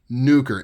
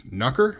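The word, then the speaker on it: Nukr: nuker so the hawky nuker n u k r um I believe you pronounce it as nuker I don't know how else knucker I don't know how else you'd pronounce it it is a little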